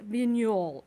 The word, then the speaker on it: Vignoles: you have watched but their white grape is vignol okay this is spelled like vignoles but it's pronounced minol okay vignol now this is a very versatile